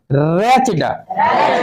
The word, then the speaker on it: wretched: रेचेज, रेचड, WRETCHED, या T silent रहेगा, ठीक ना। टी के बाद CH जब रहे तो ये टी क्या होता है? साइलेंट रहता है, कोई दिक्कत।